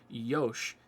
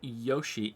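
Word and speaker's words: よし: As a general rule, words in Japanese don't end in consonant sounds, but the ending vowel sound is sometimes mispronounced. So when Kiru is saying Yosh, he's actually saying Yoshi.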